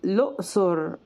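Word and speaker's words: الأقصر: بتتنطق الم الم الم والاقصر بتتنطق لؤسر بضم اللام اللام اللام واحيانا بيبقى نطق القاف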